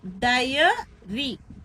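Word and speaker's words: diary: " டைரி." சரியான உச்சரிப்பைப் பார்த்தால், அது "டை-அ-ரி" என்பதாகும்.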